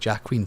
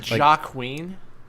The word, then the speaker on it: Joaquin: Joaquin. Joaquin. Fuck it. Joaquin Phoenix. Are you French all of a sudden? Fucking don't put letters in your name. You're not going to save that J for someone else.